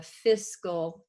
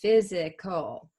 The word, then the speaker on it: fiscal: my pet peeves is when someone pronounces this word fiscal as physical now in accounting we